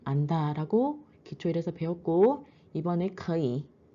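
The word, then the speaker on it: 可以: 첫 번째 나은 산천적인 능력 후인은 후천적으로 무엇 무엇을 할 줄 안다라고 기초일에서 배웠고 이번에 거이 삼성플러스 삼성이기 때문에 이성삼성으로 발음이 됩니다.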